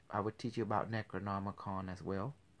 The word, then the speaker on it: Necronomicon: Necronomicon. Necro meaning dead, right? Okay. Nomicon, like the book of the dead.